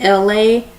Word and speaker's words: ELAY: This is me, LA, pronounced like LA like the city.